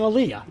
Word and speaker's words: Elia: It is Elia, very good. But I've heard different pronunciations over my lifetime.